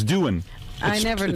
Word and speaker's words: Doohan: It's not Doohan, it's Doohan. I never knew. It's spelled...